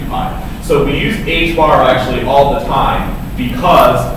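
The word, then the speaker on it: ħ: It's pronounced h bar.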